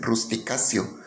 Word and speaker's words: Rusticatio: Ahí vemos en ese título dice explicatio, pero esa sílaba tio en latín se lee sio, la T como C. Por eso rusticatio mexicana tendría que ser rusticacio, rusticacio mexicana.